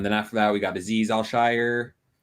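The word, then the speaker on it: Azeez Al-Shaair: after that we got aziz al shire al i believe is the way you pronounce it marcel harris who's converted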